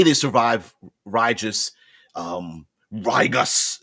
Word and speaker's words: Rigus: But let's say they survive RIGUS, RIGUS. I guess you could, a hard G would actually be kind of cool too.